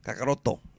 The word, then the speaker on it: Kakarot: no frieza's opponent is kakarat or kakaroto this is the right way to say it so then they start